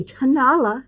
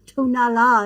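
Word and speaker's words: Tonalá: All right, we have a tanala tonala as my husband likes to say because he doesn't he tells me I don't pronounce it right.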